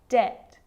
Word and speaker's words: debt: Subtle, debt, and doubt. So see, in all of those examples, my lips aren't closing and coming together to form the B sound. I'm just pronouncing the T.